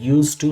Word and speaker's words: used to: in your mind here d is written but it is not pronounced only it is said used to not used to if